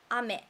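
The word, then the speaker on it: 飴: And next, we have a word ame. That means candy, sweet. Ame. The pitch accent is like this. Ame.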